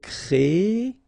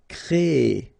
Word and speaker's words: créer: So it's quite interesting, sorry, here, because first you will have this CRE accent aigu, so you get the créer sound, and after that you get this ER sound, so E. So technically you will have this double E sound, créer, okay, so it's longer, créer, all right?